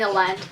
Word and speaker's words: Elend: I totally ship Vin and Elend. I'm pretty sure it's pronounced Elend, but I pronounced his name as Elend in my head.